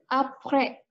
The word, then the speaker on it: après: Jadi kita lafalkannya apre, ya. S-nya tidak dibaca.